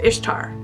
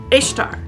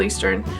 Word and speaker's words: Ishtar: way you pronounce it pronounced ishtar ishtar is pronounced ishtar ishtar it's babylonian maybe middle eastern ishtar it's not pronounced easter but easter is